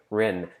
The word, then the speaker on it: Rin: And then, see, even kids in native Alaska know how to pronounce Rin properly. Funimation, step up. When he's like, what's your name? He's like, Rin.